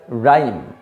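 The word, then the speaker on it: rhyme: শুরুতে ইনিশিয়াল মানে শুরুতে, তাহলে কোথাও যদি দেখো যে শুরুতে আর এইচের ঠিক আগে আছে তাহলে সেই ক্ষেত্রে কিন্তু এইচ সাইলেন্ট। তার জন্য এই উচ্চারণটা কী হবে, রাইম। এই এইচ বাদ দাও, তাহলে RYME, রাইম।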